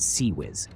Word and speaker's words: CIWS: The failank's closein weapon system seis pronounced sea whiz.